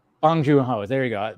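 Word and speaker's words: Bong Joon-ho: never say his how do you say J bong junho bong junho there you go not Boon bong bong yeah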